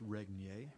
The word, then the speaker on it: Regnier: It's pronounced Regnier.